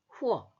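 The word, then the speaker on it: 或: 줄 보세요라고 되어 있는데 발음이 병이 액센트가 그 자에 있잖아요 그래서 어떻게 읽느냐 후 후 후 이렇게 읽어요 혹은 하는 뜻이에요 그러니까 우울은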